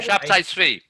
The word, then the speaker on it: Shabtai Tzvi: Shabtai Tzvi. Yeah. Shabtai Tzvi. Yeah, I never pronounced his name right.